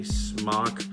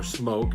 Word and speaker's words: SMOK: This is a Smok or Smok, depending upon how you want to pronounce it, Baby Beast tank.